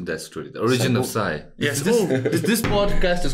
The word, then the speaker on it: Psy: The origin of Sai. Yes. This podcast is called PSY-POD. Oh, okay. And I'm Sai and this is a podcast. How do you spell it? PSY. Like Gangnam Style.